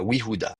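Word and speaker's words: יהודה: Donc vous avez we sans voyelle, y sans voyelle, oui, oui, Fuda, comment on prononce ça? Bah, Yehuda, tout simplement.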